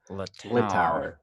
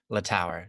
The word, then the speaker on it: Littauer: Florence Littauer. Littauer. So the tower in French.